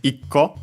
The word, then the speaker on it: ikko: The accent is always on the syllable before the co itself. So yeah, in our case, icco, so on the I.